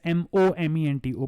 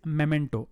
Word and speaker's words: memento: Now, a lot of people pronounce it as memento and also make a spelling mistake by spelling it as M-O-M-E-N-T-O, but there's no such word as momento. The word is memento.